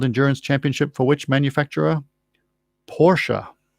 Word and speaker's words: Porsche: championship for which manufacturer porsche or porsche depending on how you want to pronounce it you want to pronounce it correctly c sound i think anyway the answer to